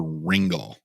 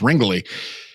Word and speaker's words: Ringly: Um, and I can remember, I think I mispronounced her name originally and called it called her Ringle. Brandy, I apologize. We've had a laugh since then, but it's Ringly.